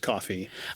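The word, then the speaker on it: Ko-fi: a one-time donation um Kofi page if anyone or co Kofi. I'm not sure how you pronounce it. Might actually just I it's supposed to be pronounced coffee.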